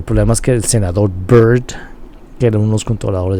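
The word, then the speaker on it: Byrd: es que el senador Bird que er un los controladores de Kathy br se escribía con Y en lugar de bd que es la palabra Bird para pájaro pero ambros se pronuncian Exactamente igual Entonces si alguien está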